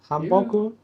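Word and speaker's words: 한복: This is called hanbok. Hanbok. Han. How do you say it? Hanbok or hanbok? Hanbok. B-O-K. Hanbok. Okay. I'll say B-O-K. Hanbok. Hanbok. Okay.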